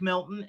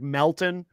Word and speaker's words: Melton: His name is actually Patrick Melton.